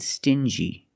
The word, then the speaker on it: stingy: differently example dingy and stingy these two words have the regular n Sound n plus the J like juice together stin G together stingy or d g together